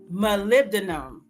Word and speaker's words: molybdenum: fluoride and our last one is called molybdenum molybdenum say that twice right molybdenum and let me spell it for you because it's a tongue twister